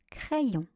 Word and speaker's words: crayon: On va prendre le premier I qui va se lire avec le A pour faire le son est, et le deuxième I qui va se lire avec la syllabe d'après pour faire le son ion. Voici les exemples de lecture. Un craie et après ion, ça fait le mot crayon.